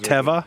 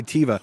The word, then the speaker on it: Teva: And the irony is that the word Teva, I think Americans say Teva, but the word Teva means nature, which is kind of ironic for a pharmaceutical company.